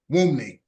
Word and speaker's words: Wunmi: Wumi. The N is silent.